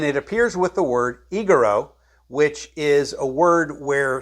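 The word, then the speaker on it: ἐγείρω: That's word 1453, pronounced egero, which this word appears 144 times in the Greek New Testament.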